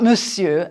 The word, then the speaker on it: monsieur: You can draw a line through the R, the R, to remind you not to say it.